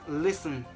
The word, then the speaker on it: listen: Or how about T? Like listen. Where's T? You don't pronounce T in this word.